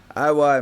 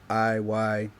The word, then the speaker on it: I.Y.: coming off guard with that oh nice one I why man it's a very easy name bro my name is spelled our I why a I why yeah that's how you spell